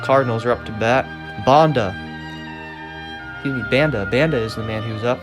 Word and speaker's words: Banda: Banda is the man who's up. That's how you would correctly pronounce it.